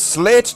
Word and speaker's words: Slathe: But I will always call him Slathe, never actually pronouncing the T and the H together. Always making it a hard, consonantal T. You've got to make it Slathe. He's Slathe the Space Marine.